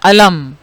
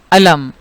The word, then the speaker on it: علم: ایک اور لفظ ہے علم، عین لام میم، اور کچھ دیر پہلے دکھ، غم، رنج کے لیے ہم نے دیکھا تھا لفظ ہے علم۔ تو آپ نے دیکھا تلفظ دونوں کا ایک ہی ہے، مگر الف سے جو